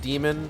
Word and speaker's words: daemon: That's a daemon. I know it's like pronounced demon, but I'm going to say daemon.